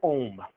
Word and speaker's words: ohm: what's the unit no it's pronounced ohm not um but that was pretty